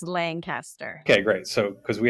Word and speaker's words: Lancaster: right Lancaster New Hampshire is it Lancaster or Lancaster it's Lancaster okay great so because we have a Lancaster